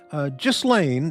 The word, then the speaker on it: Ghislaine: Ghislaine is pronounced gill, like a fish, then ain.